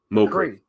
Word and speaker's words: Mokriy: All right, uh uh McCree. Yes. Yeah. The last name was in I would never have pronounced your last name without help.